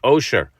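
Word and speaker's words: עושר: The only difference in the middle letter is where you put the dot. If the dot is on the right, then it's a shin, making the word osher, wealth.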